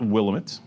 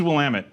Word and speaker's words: Willamette: wamit Valley Oregon wamit Dam it it's not willit willamet damn it I still don't know how